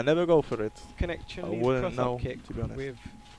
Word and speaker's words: Chun-Li: Don't say it like an English white man. It's Chun-Li.